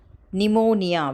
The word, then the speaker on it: pneumonia: For example, pneumonia, where p is silent, pneumatic, where p is silent.